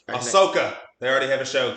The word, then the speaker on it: Ahsoka: And I always want to say her name Asuka, like that Asian WWF wrestler. The AEW one, or I think is her name Asuka? I think I know who you're talking about, but Ahsoka.